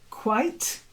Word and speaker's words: quite: is silent tea bristled quite not like quiet but you get a